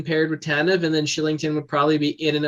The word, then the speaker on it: Kylington: Because his name, I'm like, what nationality pronounces their K with as an S? Because you see it, you think it's Kylington, right? Right? Yeah. Oh, that's how it's said. Oh my God. Shillington.